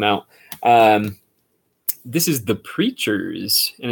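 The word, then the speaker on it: Preatures: um this is the preachers and it's spelled like features but it's preachers so and this is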